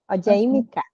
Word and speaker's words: Ọ̀jẹ̀yímiká: E hoje a gente convidou a ou a, e aí me ajuda a pronunciar, o segundo nome? Ojemika.